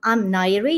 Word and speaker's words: Nayiri: I'm Nayiri. You did pronounce my name correctly.